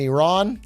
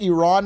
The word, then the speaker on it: Iran: By the way, I'm saying Iran now because my Persian friend told me that's how you should pronounce it. However, if I say Iran, you can't blame me because I grew up with George W. Bush, the greatest president of all time, who said it like that my entire childhood.